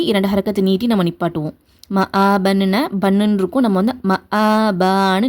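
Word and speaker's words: مآبا: அடுத்து வந்து மஆபா இங்க பாத்தீங்கன்னா ம ஆபா ஆபான்னு உச்சரிக்க கூடாது. ஏன்னா இந்த அலிப் நம்ம அலிப்கு மேல ஹரக்கத் வச்சு வந்துச்சுன்னா அந்த சவுண்ட் எல்லாத்தையுமே தரது யாருன்னா ஹம்ஸாதான் அந்த சவுண்ட் எல்லாத்தையுமே தரும். அலிப் கிடையாது ஓகேவா சோ என்ன பண்ணுங்க இங்க ஹம்ஸாதான் இருக்கும்.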